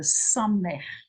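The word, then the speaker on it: סמך: There is the S, the Samech, the S, Samech. Okay? So, wat hier, this is the second silent letter in the alphabet.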